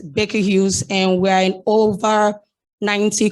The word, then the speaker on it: Baker Hughes: you aplen and yes the correct pronunciation of my company that is an american company is baker hughes and we're in over